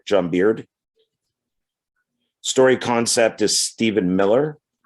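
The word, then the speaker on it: Beaird: It's written by John, I believe he pronounced his name as Beard, John Beard.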